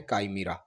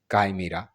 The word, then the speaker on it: chimera: को प्रोनाउंस कैसे करेंगे तो यह पढ़ा जाता है कामरा काय मरा काय मरा कामरा जो है यह ग्रीक